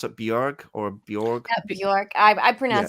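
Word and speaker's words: Björk: Rolling Stone one time that it rhymes with work, not pork. Okay, Bjork, Yeah, Bjork, Yeah.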